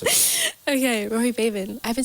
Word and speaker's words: Babin: It's just Rory Babin. Okay. Oh my gosh, I've been saying it wrong this whole time. It's Rory Babin.